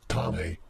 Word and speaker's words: Tane: It's pronounced Tane.